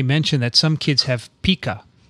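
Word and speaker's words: pica: that some kids have pika it's pronounced pika not pika pika is a small rodent that lives in south america there you go dixon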